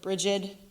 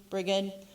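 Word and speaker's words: Brigid: dolls are for the goddess briad or bridgid briged lots of different ways to say her name um her holy day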